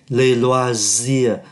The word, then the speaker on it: loisirs: Ở trong phần này người ta nói về les personnes là về con người, les loisirs, S này phát âm là Z bởi vì đứng giữa hai nguyên âm, les ovi là oa,